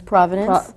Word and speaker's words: provenance: And the history becomes its provenance?